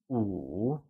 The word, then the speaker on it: wǔ: Good work!5 translates to 五 and is said with a falling, rising tone. Let's try and say 五.